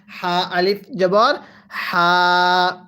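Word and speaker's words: حَا: আলিফ জবর হা সবাই এই হাটা উচ্চারণের সময় গলার মাঝখান থেকে বাতাস বের করে পড়বো হা আলিফ জবর হা এরপরে হা ওয়াও পেশ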